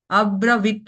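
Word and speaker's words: अब्रवीत्: इच्छा को अब्र वित अब्र वित त को साइलेंट रखना है क्यों क्योंकि त के नीचे एक हलंत है छोटा सा डैश है है ना सो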